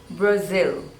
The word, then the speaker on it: Brazil: Botswana next one is Brazil Brazil and stress is on the seconds label Brazil Brazil Brazil Brazil